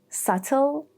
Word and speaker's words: subtle: Two, when there is bt like in doubtful, subtle or the more American version subtle and that or the more American pronunciation that C again in two situations.